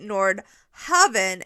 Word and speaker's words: Nordhaven: But when the gameplay trailer came out, they pronounced it Nordhaven, and we were like, oh, oops, we all got that wrong.